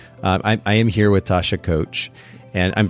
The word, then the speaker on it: Koetsch: scene here because I am here with Tasha coach and I'm pronouncing your last name correctly yes okay we